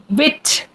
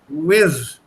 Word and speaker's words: with: The T and the H. Wit. No, the tongue has to come to the tip of the lower teeth.